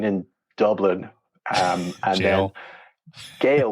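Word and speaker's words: gaol: Dublin um and then Gail with a g a o l so G is this gay h no it's actually the old spelling of jail oh oh I know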